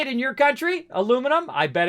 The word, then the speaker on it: aluminum: some of them uh here in the United States that's how we say aluminum aluminum hey it's not me that's that's the American pronunciation now if I go ahead and choose it I can choose a different I can do the British version of it illuminum illuminum right which sounds weird to me but then again